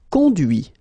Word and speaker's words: conduit: Conduire, conduit. Construire, construit. Cuire, cuit. Détruire, détruit. Instruire, instruit. Okay, so you can notice that even if I put this final T, so as usual, I don't pronounce it.